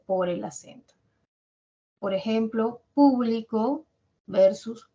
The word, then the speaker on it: público: ayudar a distinguir significados público por ejemplo el acento en la primera sílaba o en la antepenúltima significa que pertenece a varias personas no que puede ser